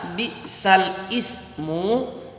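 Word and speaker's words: بِئْسَ الِاسْمُ: ke-49, ayat yang ke-11, ada tulisan bi'sal ismu, maka itu dibaca bi'salismu. Apa Dedek? Bi'sal ismu dibaca bi'salismu.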